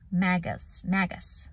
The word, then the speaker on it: magus: This is from magos, but it's actually pronounced magus, like maga.